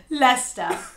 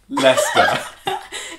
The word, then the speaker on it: Leicester: Leicester. Yeah. Boys and girls can benefit from this channel. Here's a 26-year-old saying it. Leicester. Here's a 54-year-old saying it. Leicester.